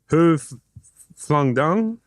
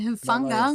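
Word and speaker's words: Hufanga: Hoof Flung Dung? No. Hoof. Melee Hufunga.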